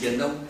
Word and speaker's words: Biển Đông: In Vietnam, pronunciation is Biển Đông or Đông Hải.